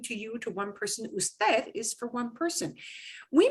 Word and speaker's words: usted: UD period, that does not mean you pronounce it ud. Nobody says that. It is usted, but it's an abbreviation.